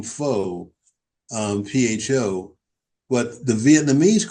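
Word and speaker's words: Phở: There are places, the restaurants, the Vietnamese restaurants, where you'll see the name Pho, P-H-O, but the Vietnamese call it Pho.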